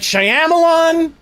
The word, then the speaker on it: Shyamalan: And the reason why I don't like Jay is because he mispronounces people's names. It's M. Night Shyamalan.